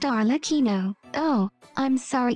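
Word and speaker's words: Arlecchino: and her name is capuccino for the 10th time it is pronounced arino oh I'm sorry it's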